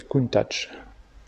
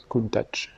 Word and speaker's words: Countach: C'est pas d'italien, donc du coup le CH ne se prononce pas que. A priori ça serait Countach, avec un T, Countach. La vraie prononciation, a priori.